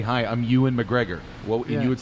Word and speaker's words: Ewan McGregor: The guy that played Obi-Wan Kenobi in the Ewan McGregor, I think is how you say his name. Ewan McGregor, yeah.